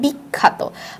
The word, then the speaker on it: বিখ্যাত: আবার ঠিক তেমনি বিখ্যাত, বিখ্যাতটাও আ এর মতো উচ্চারণ না হয় এ এর মতো উচ্চারণ হয়।